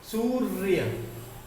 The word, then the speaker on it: सूर्य: सूर्य ऊपर वाला जो वर्ण है उसका उच्चारण य से पहले आएगा, तो ये सही है।